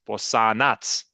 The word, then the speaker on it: Bosanac: it's Bosanac, which actually means the Bosnian.